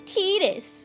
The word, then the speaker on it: Tidus: The way that I view Tidus's name is that everyone is in like this big divide over how to pronounce Tidus's name. And it's like, it's Tidus.